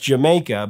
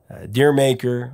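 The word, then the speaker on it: D'yer Mak'er: the song is jamaica in the uk the song was pronounced jamaica but in america the song was always mispronounced either referred to as deer maker or a dire maker i mean i'll admit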